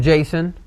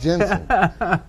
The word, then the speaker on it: Jensen: It was good to hear from Jason. Jensen. Why you say the name wrong all the time? Oh, me. It's Jensen.